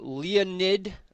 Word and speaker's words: Leonid: One of them being a meteor shower, the Leonid, I believe it's pronounced, a Leonid meteor shower.